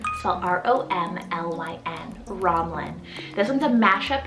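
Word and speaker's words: Romlyn: for sending this one in is the name romlin r-o-m-l-y-n romlin this one's a mashup name meaning lofty lake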